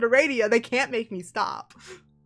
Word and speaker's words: Aradia: her route is called it's pronounced eradia and i'm losing my mind okay i'm thirsty so i'm gonna grab something to drink and then a radio time and i'm going to continue to pronounce it a radio they can't make me